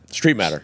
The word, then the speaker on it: Streitmatter: So that's how everybody pronounces it, and it was just easier to go with it. Streitmatter, just like it's 2 E's.